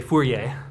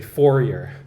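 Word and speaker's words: Fourier: So if you're if you're if you're Canadian, you pronounce it correctly and you say fiery. But if you're if you're American, you pronounce it incorrectly and you say forer.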